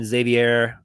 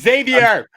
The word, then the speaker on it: Xavier: 300 katos is zavier is it zavier zav VA Xavier Xavier I'm pretty sure always when I ask you to pronounce the name it do not come through and I don't hear what you say it's Xavier all right fine yelling will